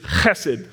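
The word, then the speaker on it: חֶסֶד: how it's pronounced is hessed in Hebrew it's it's kind of guttural and deep it's like you're clearing your throat it's acid and the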